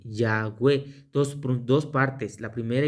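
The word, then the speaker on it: Yahweh: Entonces, en la otra, en la otra pronunciación, la pronunciación es Yahwe, la primera parte por la palabra aleluya, aleluya, y la segunda por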